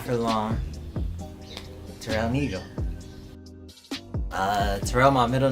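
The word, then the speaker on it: Nëgo: Is supposed to be pronounced like Nego. It was like N-E with the 2 dots, G-O.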